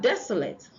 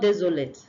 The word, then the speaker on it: desolate: Miss it sit then we have desolate not desate it's not it's not not desolate not is desolate desolate desolate all right now we have been